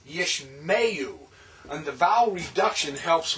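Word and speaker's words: ישמעו: Yishma and you gives us yishmeyu. See, it's not yishma'u, it's yishmeyu.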